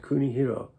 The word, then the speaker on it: Kunihiro: The Chinese characters of his name were commonly pronounced Kunihiro in Japanese.